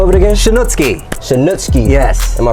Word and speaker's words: Shanutski: Shanutski. Shanutski. Yes. Am I pronouncing it right? You are correct, Shanutski.